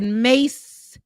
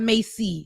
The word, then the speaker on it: Mace: man in the chat he said mace not Macy so thank you for saying it correctly Ben I was saying it wrong it ain't Macy sorry mace mace I was trying I